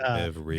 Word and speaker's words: Beveridge: Beverage like a drink, but it's BEVERIDGE. I figured there was probably a D in there. But anyway, Beverage.